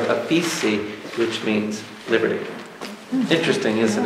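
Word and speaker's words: aphesis: It's very close to pronunciation to another word called liberty, aphesi, A-P-H-E-S-I, aphesi.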